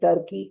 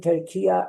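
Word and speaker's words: Türkiye: In these days, saying Turkey is a wrong pronunciation. Saying Turkiya is the right pronunciation.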